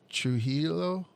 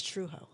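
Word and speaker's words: Trujillo: called that guy Raphael what trilo it's truo TR so there's no i l l o did you just say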